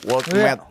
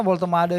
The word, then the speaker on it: Woltemade: Kalau kita ke Newcastle kan sekarang dapat striker tinggi ya, Woltemade. Nah, Woltemade. gimana sih pronounce-nya itu?